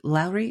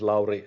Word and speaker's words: Laurie: totally okay so uh uh lowry is it lowry am i pronouncing it right now pretty much yes um absolutely uh thank you very much jody um yes my name is laurie i'm from finland originally from germany um